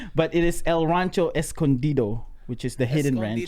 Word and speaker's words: Escondido: But it is El Rancho Escondido, which is the hidden ranch. Escondido.